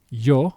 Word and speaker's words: yo: It's found in the word yo, which is a personal pronoun that means I. In Spanish, it is yo. It it has it has the sound of a hard J if you will.